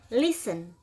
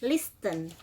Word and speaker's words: listen: Bacanya listen, bukan listen.